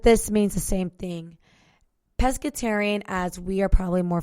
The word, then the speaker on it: pescetarian: i a n nonetheless if it's spelled with an a or spells with this e it's pronounced the same and they both mean the same thing right pescetarian um so fun fact